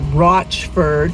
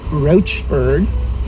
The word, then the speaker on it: Rochford: so i stand corrected that town is called rochford not roachford one track colorado mine